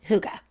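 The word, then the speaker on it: hygge: I said well but it's not pronounced like we would read it no it's Huga Huga which means what it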